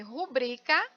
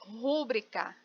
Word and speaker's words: rubrica: Então, eu tenho aqui rubrica, que é a escrita e a pronúncia correta, mas tem muita gente que fala rúbrica, né? Rúbrica. E o correto é rubrica.